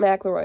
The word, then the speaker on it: McElroy: I pronounce it McElroy because I went to school with someone whose last name was spelled like this and pronounced McElroy. It could be McElroy. I'm not entirely sure.